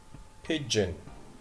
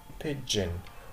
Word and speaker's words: pigeon: الجي هنا بنطقها دال جيم فأقول ج ج ب جن pigeon. وفي كسرة بعد الجي يعني الإي أو بنطقها زي كسرة صغيرة كده فأقول بي ج إن pigeon pigeon يعني زي ما احنا شايفين.